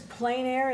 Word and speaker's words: plein air: And So the word is plein air. Am I pronouncing it correctly?